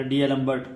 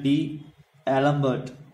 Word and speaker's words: D'Alembert: हम इंग्लिश में बोल सकते हैं डीएलम्बर्ट, तो ये यहाँ साइलेंट होगा, लैम्बर्ट हो जाएगा, ठीक है, लैम्बर्ट रेशो